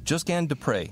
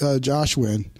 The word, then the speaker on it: Josquin Des Pres: hello hey friends so yeah just just Gan just G de pre am I saying that correctly yeah actually it's